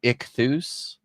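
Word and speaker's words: ἰχθύς: So, um this is like this is this is the Greek word uh ichthus is how you would write it in English. Ichthus is how it's pronounced.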